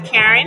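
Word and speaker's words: Caren: My C A R E N. The pronunciation is the same. It's the same, but I want it to be different. So my C A R E N. So Karen with a C.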